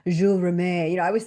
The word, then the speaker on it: Jules Rimet: It's a French word. It's like Jules Rimet. You know, I was saying "Jules Remit." The Jules Remit trophy. And he's like "No, it's Jules Rimet."